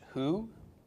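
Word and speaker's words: הוא: Bob with a Shahrukh followed by an olive pronounced who who in Hebrew means he and then that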